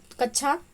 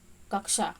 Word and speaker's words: कक्षा: कच्छा शब्द का शुद्ध उच्चारण है, तो इसका शुद्ध उच्चारण होगा कक्षा, ऑप्शन सी यहाँ पे सही आंसर हो जाएगा। कक्षा शब्द का शुद्ध उच्चारण कक्षा है।